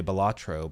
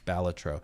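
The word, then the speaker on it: Balatro: You can add balletro makeup, which yes, apparently is the way you pronounce it. Um, I always wanted to say Bellatro, but apparently it's Baltatro.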